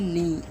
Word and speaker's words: knee: घुटने को इंग्लिश में कहते हैं नी, KNEE, नी। ठीक है, अच्छा, के जो है पढ़ने में नहीं आएगा, के साइलेंट है, जब हम बोलेंगे तो सिर्फ नी बोलेंगे।